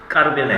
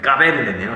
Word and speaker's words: 까베르네: 포크라 샤도나이, 스트로베리 로제 모스카토, 에스프레소 까르베네. 한글 보고 읽으니까 발음이 확 안 좋아지네. 까베르네요.